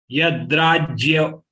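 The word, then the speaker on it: यद्राज्य: Yadrajya, we have to pronounce as jya because it is joint letter of ja and ya. So ya has to be prominently should be listened by your examiner.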